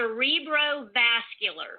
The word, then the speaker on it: cerebrovascular: It's a cerebrovascular.